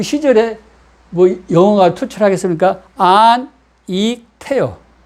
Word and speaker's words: 안익태: 안, 익, 태요. 그런데 일본 사람이 읽을 때 안, 익, 타이로 읽는 거예요. 발음이 받침입니다. 받침. 일본 사람은 받침 읽지를 못해요. 그래서 자기들이 편하게 읽기 쉽게 조선인인데 자기들 마음대로 이름을 바꿔도 상관이 없지 않습니까? 그래서 안, 에키, 타예요.